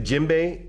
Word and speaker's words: djembe: Now the djembe is spelled D-J-E-M-B-E.